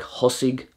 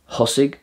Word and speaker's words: thosaigh: such so words like thosaigh tháinig & thart which means started came & around are pronounced with a h sound thosaigh tháinig & thart the